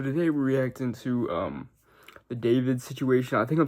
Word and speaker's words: D4vd: So today we're reacting to the David situation. I think I'm saying his name wrong, but I think it's D4vd something. But I think it's pronounced David, so I think I am saying it right.